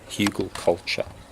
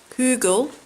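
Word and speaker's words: Hügelkultur: Hugelkultur. Hugelkultur. What is it? Hugelkultur. Hugelkultur. Hügel.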